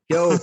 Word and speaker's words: Keogh: Keogh, there we go.